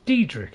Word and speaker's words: Daedric: Supposed to know everything there is to know about Daedric cults. It's Daedric, is it? Oh, it's Daedric. Or does he just can't pronounce it properly?